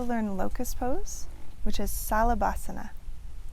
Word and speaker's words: Salabhasana: We also learn Locust pose, which is Salabhasana. Salabhasana.